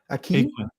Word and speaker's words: Aquin: and my wife pronounces her last name Aquin. I don't know what rhymes with Aquin.